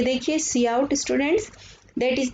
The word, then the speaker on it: cout: अभी मैंने आपको बताया सी आउट में हम ये आइडेंटिफायर सी आउट प्रोनाउंस्ड करते हैं, हम इसको सी आउट, साफ समझ में आ रहा है, आउटपुट के लिए सी आउट यूज करते हैं।